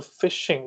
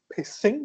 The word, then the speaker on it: phishing: But now when it comes to PHISHING, when it comes to phishing, this is called, you can't say it's pissing, but it's phishing. P is silent here, okay?